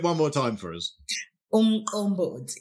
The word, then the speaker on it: umqombothi: I want you to tell me about something that is popular in KwaZulu Natal, and forgive my Zulu, but this is umqombothi.